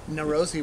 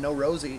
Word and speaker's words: Neurosi: You actually had to teach me how to pronounce their name. I kept calling them No Rosie, and I was wondering who Rosie was.